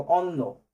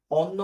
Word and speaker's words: অন্য: দেখো অন্য সর হ আর হচ্ছে দন্তন্য। তাইতো? অন্য বানালে উচ্চারণ কিভাবে হয়? এটা অন্য হয় না। এটা অন থেমে গেছে।